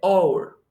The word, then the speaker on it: hour: por H, pero solo cuando esta H es muda, cuando no se pronuncia. Un ejemplo claro para que distingamos bien. Hora, la hora de sí, del reloj, en inglés se dice hour. Hour.